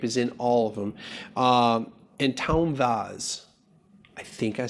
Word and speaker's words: Antão Vaz: Antão Vaz.